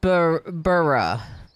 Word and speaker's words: borough: But it's pronounced burra.